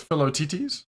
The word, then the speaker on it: Philoctetes: The T is silent. Oh, it's Philoctetes.